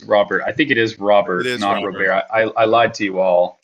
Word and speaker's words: Robert: the problem is it's it's not pronounced like your typical Latino player so it's confusing um